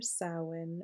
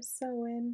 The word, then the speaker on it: Samhain: an intentional simmer pot for sin or SE depending on how you pronounce it I specialize in